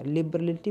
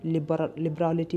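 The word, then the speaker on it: liberality: अब इसे सही से प्रोनाउंसिएट करिएगा, लिबरलिटी बोलेंगे या फिर लिबरालिटी बोलेंगे, क्या बोलेंगे? इसे लिबरलिटी नहीं बोलेंगे, इसे लिबरालिटी बोलेंगे, लिबरालिटी, लिबरालिटी।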